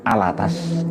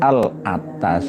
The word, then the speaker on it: Alatas: Kang Mas Muhsin Alatas alattos tulisannya Tapi bacanya Alatas Alatas bukan albawah alas jadi kitabirun ini karya